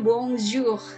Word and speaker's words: bonjour: Nah, ini itu dibunyikannya bonjour ya.